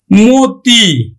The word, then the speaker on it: মতি: পায়, যদি দীর্ঘও পায়, তাহলে কিন্তু ও এর মতো উচ্চারিত হবে। যেমন দেখো ছবি, দেখো আদ্য অ এর পরে কি আছে? রস্বইকার আছে, তাহলে উচ্চারণ হবে কিন্তু ছবি। মতি, তাহলে দেখো আদ্য অ এর পরে রস্বইকার আছে,